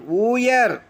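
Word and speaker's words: wooer: ody ஊடி மரங்கள் நிறைந்த wக்கு உச்சரிப்பு இல்லை முதல்ல வர wக்கு wo o இ ஆர் ஊயர் காதலிப்பவர் அடுத்து டபள்யூ ஓ ஐ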